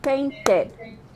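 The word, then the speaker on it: painted: practice peace okay practice if the verb ants and the T sound or the D sound we add excuse me we add the extra syllable and we say paint it waited printed yes huh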